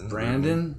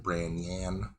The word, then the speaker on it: Branyan: Brandon? Branyan. Can you spell it for the people? Bran, like the cereal. Yan, like Yan Can Cook.